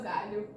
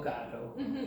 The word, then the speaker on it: galho: Cada macaco no seu galho. Cada macaco no seu gado. Galho. Galho. Very good.